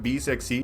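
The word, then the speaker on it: BE 6: तो उसको महिंद्रा प्रोनाउंस करते हैं बी इकट्ठा करके, और आगे जो 6E है उसको महिंद्रा प्रोनाउंस करते हैं सेक्सी, 6E सेक्सी, समझ गए ना। और टोटली में फिर अगर आप सब कुछ मिला दे तो इस गाड़ी का नाम बनता है बी सेक्सी। महिंद्रा वाले जो अंकल है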